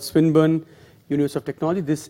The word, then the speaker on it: Swinburne: So, he is, I actually don't know how to pronounce it, it's Swinburne? Yes. So it's Swinburne University, but the talk will be about the work done with an Australian meat processing company.